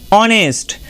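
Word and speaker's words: honest: এবং অ সাউন্ডে যদি আমরা একটা ওয়ার্ড দেখি তাহলে সেটা হবে অনেস্ট। দেন পরবর্তী লেটার আই। আই লেটারটির যে উচ্চারণগুলো হয়ে থাকে সেগুলো হচ্ছে রসয়কার এবং আই।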